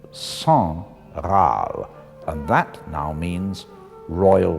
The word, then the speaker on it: Sangraal: in the wrong place it's not Sam growl but song I'll and that now means